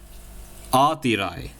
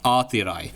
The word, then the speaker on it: Aatirai: Guys, I can actually officially announce that this name right here spells Aatirai. Now, how do you spell that? Well, it's A-A-T-H-I-R-A-I, Aatirai.